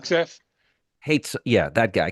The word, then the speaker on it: Hegseth: Pete, how do you pronounce his last? Hegseth. Hegseth?